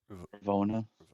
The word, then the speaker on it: Ravonna: Ravonna.